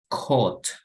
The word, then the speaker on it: caught: So try to get rid of, when we read the word, there are some extra letters that are not pronounced. Siempre hay como que algunas letras extra en la palabra que no se pronuncian.